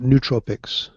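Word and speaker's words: nootropics: sure if it's pronoun is it pronounced neut Tropics or not Tropics I've always heard it neut Tropics neut Tropics that makes sense EU n EU I it's n oo no like as a noosphere sure well can I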